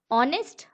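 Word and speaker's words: honest: यहाँ क्या यूज होगा, ऑनेस्ट, करेक्ट। एच साइलेंट है यहाँ पे, ओ से स्टार्ट हो रहा है, यानी कि ये है एन ऑनेस्ट मैन, वॉल से स्टार्ट हो रहा है, ऑनेस्ट मैन है।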